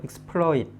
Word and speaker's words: exploit: 그래서 exploit이나 exploit이나 이렇게 발음하시면 안 되고 L을 양쪽에다 exploit 하고 exploit 이렇게 발음하셔야 돼요. exploit 양쪽에 풀과 러를 같이 발음하셔야 돼요.